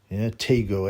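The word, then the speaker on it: Tagoe: Now, I thought, that it would be pronounced differently, but apparently Tego was the correct pronunciation, yeah.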